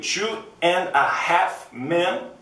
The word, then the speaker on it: Two and a Half Men: and a Half Man isso é um erro em inglês é Dois Homens e Meio Two and a Half Men ou Two and a